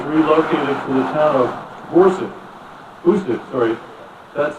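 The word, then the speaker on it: Boucq: After 6 months of training, the division headquarters was relocated to the town of Bousek, that's spelled B-O-U-C-Q, 34 miles south of Verdun.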